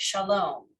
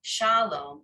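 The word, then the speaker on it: שָׁלוֹם: Shalom. It's not shalom, it's shalom, right? The emphasis comes closer to the end.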